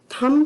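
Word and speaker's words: thumb: से ध्यान रखनी है हम लोग अक्सर टी एच यू एम बी थम को थम बोल देते हैं और बी का उच्चारण उसके साथ कर देते हैं जो कि गलत है यहां पर according to rule B silent है और अगर शब्द में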